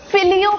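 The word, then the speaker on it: fillet: फिलेट fish होता है फिलि fish होता है फिले होता है नहीं टी है मगर साइलेंट है फिलि फिश बर्गर ओके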